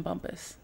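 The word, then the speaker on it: Bumpass: No, actually, I live in Bumpus, middle of Yes, area.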